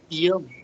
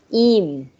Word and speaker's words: ihm: Ear. Yeah, correct, but pronunciation wrong, no. Ihm.